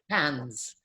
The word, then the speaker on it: Cairns: up in north queensland in hands are cairns as it's spelled jackie wilson was one